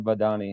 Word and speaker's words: Vahdani: All right, everybody with me on the line, singer, songwriter Lauren Vadani. How you doing? I'm good. How are you? Did I get the pronunciation right?